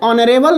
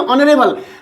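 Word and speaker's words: honourable: ही is dash ऑनरेबल मैन, यहाँ देखिए ऑनरेबल, likewise ऑनररी जॉब, तो एच साइलेंट हो जाएगा, तो ही इज एन ऑनरेबल मैन।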